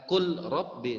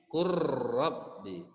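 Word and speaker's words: قُلْ رَبِّ: Walaupun tulisannya adalah kul Rabbi, namun cara membacanya bukan kul Rabbi tapi kurrabbi.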